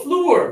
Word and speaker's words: floor: And then here again, we think, oh, floor because double O, right? No, this one is touch right here. Pull it down.